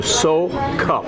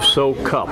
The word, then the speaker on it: Soukup: Prague Czechoslovakia and that they changed it to so cup they dropped the immigration dropped the first you and became so cup and that's what you prefer and that's what we prefer so cup is the second as Bob so cup and